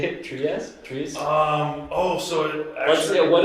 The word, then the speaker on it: Trieste: Yeah, it's Trieste, right? Yeah, it's pronounced different.